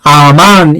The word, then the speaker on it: 아멘: 여러분이 기도할 때 아멘, 아멘, 할렐루야, 아멘, 아멘, 얼마나 아마 수천 번, 수만 번 하셨을 거예요. 이 아멘이라는 말은 원래 아만, 히브리어로 아만이라고 발음해야 돼요.